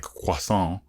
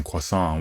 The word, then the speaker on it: croissant: was when american fans teased him for pronouncing croissant the flaky french pastry like hwasong i'm no french major but i assume that pronunciation is closer to the real french than the american croissant i can relate when